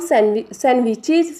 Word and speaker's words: sandwiches: Some sandwiches, students see here D is given but D is silent. Okay, when we pronounce it, it will be pronounced as sandwich. Okay, D will not be pronounced, sandwiches.